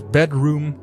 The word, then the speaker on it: bdrmm: So I'm talking about the band BDRMM, and I believe you spell it as Bedroom. I also read some interviews with the guys and they say uh the band name is spelled as Bedroom.